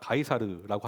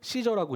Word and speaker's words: 시저: 이제 라틴어 발음으로론 가이사 가이사르라고 하는데 요즘 이제 영어 발음으로는 했을 때 시저라고 이제 발음을 하기 때문에 시저로 이야기 하겠습니다.